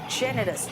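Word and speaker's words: generous: सबसे आसान वर्ड है जेनरस, जेनरस, जा आया। देखो जी का प्रोनाउंसिएशन में जा आया, है ना?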